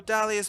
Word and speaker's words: Dahlia: So Dahlia's most mysterious and alluring trait is the silent H in her name.